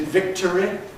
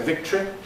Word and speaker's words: victory: Is it victory? Even though many of us always say victory.